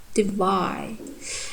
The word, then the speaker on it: divide: D is the unstressed one. Wide is stressed. Divide.